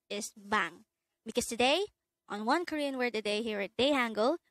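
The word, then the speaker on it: 방: Bang. This is composed of just one syllable, and this is pronounced as bang.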